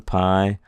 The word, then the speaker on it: pi: And it's pronounced like a P.